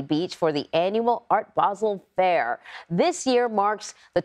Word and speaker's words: Basel: It's not Basel, it's Basel. Basel. It's just the pronunciation of the Swiss town.